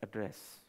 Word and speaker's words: address: one must know its address, add-ress - whatever. We were taught address in school, but two places in the world as I said, Ghatkopar and America, they pronounce it by breaking down the word.